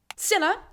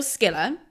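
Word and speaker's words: Scylla: was in Greek myth Siller or Skiller really you can pick either way of pronouncing that was a sea monster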